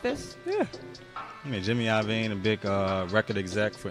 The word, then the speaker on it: Iovine: Iovine? Yeah. Why is it L-O? I don't know. That's how you say it.